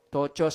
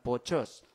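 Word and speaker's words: πτωχός: Is that silent P? Do you think it's silent P yan, Pas? Tochos siguro to. Hindi naman pochos. Tochos. Silent P.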